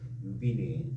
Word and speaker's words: 柳玭: 유빈, 빈이라 읽기도 하고 변이라고 읽기도 합니다. 저 빈으로 읽겠습니다. 유빈이 상 저서하여 개 기자재왈 그다음에 괴명 제이하며 욕선 상가 기실 우다자 보니 의 심지지이라 이렇게 되어 있습니다.